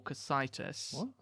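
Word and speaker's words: Cocytus: Into the ninth circle circle known as depending on how you pronounce it either cockitus or casitis cockitus.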